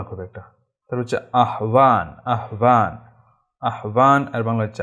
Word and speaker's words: আহ্বান: এর একটা সুন্দর সুন্দর নিয়ম আছে, সেটা হচ্ছে হর পরে যখন সংযুক্ত অন্তস্থ ব হয়, তখন এই হর উচ্চারণটা হয় না, এবং পরে বর উচ্চারণটা ভর মতো হয়, তাহলে এর শব্দের উচ্চারণ হচ্ছে আহ্বান, আহ্বান।